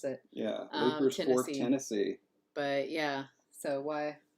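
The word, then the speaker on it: Leiper's Fork: from from uh was is it leers fork or leapers Fork I forget how they pronounce it I think it's leapers I forget how they pronounce it yeah leapers Fork Tennessee but yeah so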